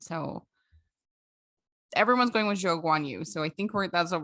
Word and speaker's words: Zhou Guanyu: of incorrectly, but it's Zhou Guanyu versus Guanyu Zhou. And it's just because in Chinese culture, you can like, the order is different. So everyone's going with Zhou Guanyu.